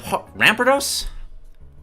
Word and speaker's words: Rampardos: were better ra ramp Rampardos I I always try to put in an extra a between the orang the D there that's not how it's pronounced whoa nope go back